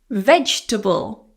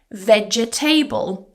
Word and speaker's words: vegetable: Eat your vegetable. So again, a common mispronunciation is vegetable. I know it looks like it has table at the end, but it's table. Vegetable. Just 3 syllables here.